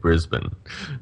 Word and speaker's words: Brisbane: of the a but people here say it Brisbane brisb I think every American come here and they say Brisbane and we always laugh but yeah well you